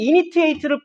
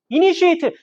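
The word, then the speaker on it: initiate: 난 분명히 이니트에이트를 무진장 외웠는데 이니시에이트 이것도 다른 단어네.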